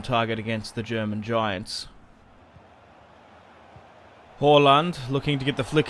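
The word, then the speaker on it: Haaland: now it's actually pronounced horland like hall when you look at that type of name you'd be like hollande or hooland it's a hall like uh an english hall which is interesting sancho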